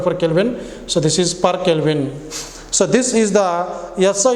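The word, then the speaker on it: K⁻¹: So this is K power minus 1, this is also K power minus 1, but while pronouncing we have to call it as, read it as per Kelvin.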